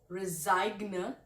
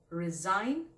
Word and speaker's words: resign: are you sure that you will resign not resign but resign.